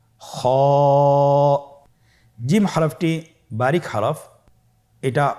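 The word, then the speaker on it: خاء: খ হরফটির মাখরাজ হলো কন্ঠনালীর শেষ ভাগ হতে উচ্চারণ করতে হয়। কন্ঠনালীর শেষ ভাগ। আপনারা আমার সাথে বলুন খ আবার বলুন খ মাশআল্লাহ।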